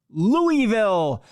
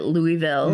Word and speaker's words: Louisville: More newscasters are going back to calling it Louisville. Yes. And there are other cities called Louisville, and they pronounce it Louisville. Mm-hmm. But so it's time for y'all to get on board. Call it Louisville.